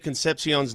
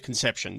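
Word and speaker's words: Concepción: Because you pronounced Dave Concepcion's name Dave Conception.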